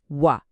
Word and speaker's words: は: लेख्दा खेरि हामी हिरा गानाको ह अक्षर म्हणजे ह लेख्छौ तर जब यही अक्षर पार्टिकलको रुपमा वाक्यको बिचमा आउछ नि तब यसको उच्चारण हदैन। यसको उच्चारण हुन्छ वा।